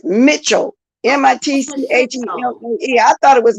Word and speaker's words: Mitchell: see what this guy like a man not Michelle okay let me go at the top wait what's up you're absolutely right it's Mitchell m-i-t-c-h-e-l-l Mitchell I was calling Michelle in say